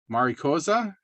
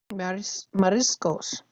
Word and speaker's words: mariscos: There was the Valencia, and then there was the Maricosa. And am I saying it right? The seafood one. So Mariscos. yeah, marisco. Mariscos means Paella de seafood. marisco. Yeah, that's means seafood, mariscos.